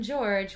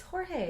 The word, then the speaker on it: Jorge: Roger calls him George when we've been calling him George because of Roger, but it's Jorge.